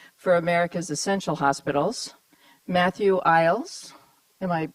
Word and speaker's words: Eyles: Matthew Eyles, am I pronouncing that correctly?